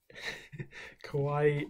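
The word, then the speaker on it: Kawhi: okay cool and then the next guy is kawaii leonard is how you pronounce it i'm not sure quite oh he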